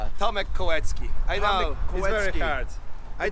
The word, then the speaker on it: Kolecki: Uh Tom Kowetski.